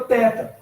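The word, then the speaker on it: θῆτα: E é o caso da letra teta, tá? No grego clássico, ou seja, em Atenas, no seu período de glória, se pronunciava como um T forte, tá? Mais ou menos como a palavra task em inglês, né?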